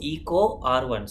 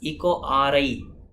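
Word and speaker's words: EcoRI: people pronounce this as echo ri it's not i it is one okay the roman numeral one right now try this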